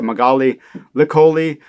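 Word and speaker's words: Magaly Licolli: And it's run by this woman named Magali Licoli, or I think she pronounces the K hard, so Magali Licoli.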